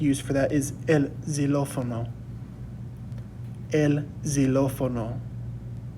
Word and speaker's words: xilófono: And then a word to use for that is el xilófono. El xilófono. So just like in Spanish, that X sometimes can make a Z sound.